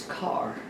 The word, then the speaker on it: Kerr: Joe Carr, and it's spelled K-E-R-R, but it's Carr. Not Kerr? Yes. Okay. Now, if you saw it in Oklahoma, you would say Kerr, but it was pronounced Carr.